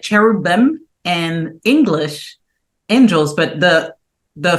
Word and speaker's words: Cherubin: your name oh well it's cherubin cherubin there it goes like the cherubs so it's like you